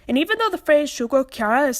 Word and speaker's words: Shugo Chara: The narrator starts this one off with a minor mistake, mispronouncing the name of the show as Shugo Chara. This title is pronounced Shugo Chara.